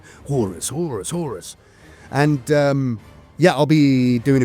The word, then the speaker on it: Horus: I should say, got to say it right, Horus.